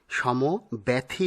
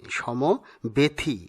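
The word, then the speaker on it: সমব্যথী: উচ্চারণ হবে নামতা পরেরটি সমব্যাথী সমব্যাথী নয় সমবেথি এটি হবে সঠিক উচ্চারণ।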